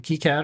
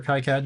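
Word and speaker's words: KiCad: Altium and uh k key CAD or Kai CAD depending on how you pronounce it it's free and open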